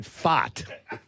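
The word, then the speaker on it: Pfaadt: And so It's Brandon Fott. Wow. what do you mean? What's that, Kap? P-F-A-A-D-T. There's no R in there.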